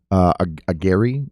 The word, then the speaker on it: Aguirre: What's his last name? Agiri. It's spelled Aguirre, Aguyurre.